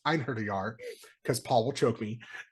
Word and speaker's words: Einherjar: He is an Anarch Einharder Setite. And no, he bluntly says he is not sorry, and it's pronounced Einherjar because Paul will choke me, and he is not a follower of Set.